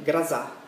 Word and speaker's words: Groza: parlando appunto dell'operazione rosa in italiano si scrive operazione grossa quella z ma il russo si legge grassa ovvero tempesta si parla